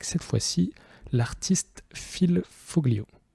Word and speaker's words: Foglio: fois ci l'artiste fils foglio apparemment ça se prononce fils folio ces italiens c'est un illustrateur old